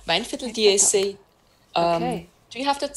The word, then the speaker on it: Weinviertel: Okay, so we have another Gruner here, this one I have is, I'm not going to pronounce it correctly, Viener Weinviertel? - Weinviertel, Weinviertel (mumbles), do you have that size in it?